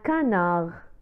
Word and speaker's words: canard: لا ننطق الحرف د في آخر كلمة canard. un canard.